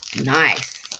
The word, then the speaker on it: Nice: It's pronounced Nice. Nice. Well, yes, obviously, yeah. But everyone calls them nice biscuits, right? Apparently, they were named after the city itself, although they are British biscuits.